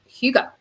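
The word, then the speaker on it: hygge: so there's this Danish word and it's called huga and it's a word it means cozy in Danish and it means smaller. So huga. So yeah, I'm pretty sure I would never have guessed that's how I pronounce it.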